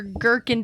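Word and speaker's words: gherkin: Dilly, kosher, girkin does have the silent h and cornishon.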